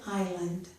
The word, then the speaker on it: island: Lastly, S is sometimes silent, as in aisle and island.